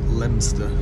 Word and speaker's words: Leominster: now from newport leominster pronounced leinster apparently right we're now coming